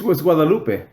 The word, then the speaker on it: Guadalupe: In Guadalupe. Guadalupe. It's Guadalupe. Yeah. Oh, it is. Yeah, it's. I never know. It's not Guadalupe.